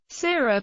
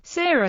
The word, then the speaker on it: Serer: Seereer or Sereer reflects the Sira pronunciation of the name and are mostly used by Senegalese Sira historians or scholars.